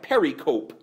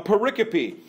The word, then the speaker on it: pericope: words today a pericope it looks like Perry cope when you spell it out a pericope it's that's what the